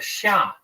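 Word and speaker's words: Xia: Chinese history which is called the Sha uh that's spelled x a in the in the modern Western romanization system the pinion system of of spelling Chinese words the Sha uh the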